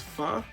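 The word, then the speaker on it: phở: And if anybody don't know, the way to pronounce it is pho, but it's spelled PHO, and like has like this quotation mark or whatever on top of it, and it is delicious.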